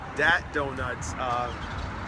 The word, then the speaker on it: Dat Donut: We're here in Chicago, and we're on the south side at Dat Donuts, pronounced with a D, and Uncle John Barbecue.